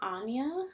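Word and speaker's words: Aine: juniper moon farm oh i don't know how to pronounce it anya i believe um it's spelled a i n e it's gaelic um and again i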